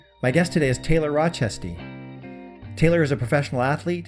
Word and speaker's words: Rochestie: to pronounce your last name maybe you can pronounce it for me now rochester taylor rochester taylor rochester yeah thank you for joining me